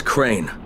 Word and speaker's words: Crane: no my name is crane crane crane rhymes with tray and brain and sign battle and gravy train and plane and the other kind of plane and and can I